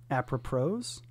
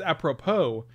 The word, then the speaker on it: apropos: washington with apple pros because it's apropos and you're saying apra pro and you're putting two pros where there's only one pro but that's a play